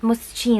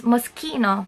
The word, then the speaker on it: Moschino: pronounce it musky no and not mushy no it is because CH followed by letter i' or letter e c spoken as K so it's Moschino and then we have